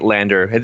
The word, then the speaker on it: LANDR: Oh, uh yeah, we were pronouncing it Landr. It That's generally how it's kind of That's kind of what was settled on eventually. So, it's it's pronounced Landr now, yeah.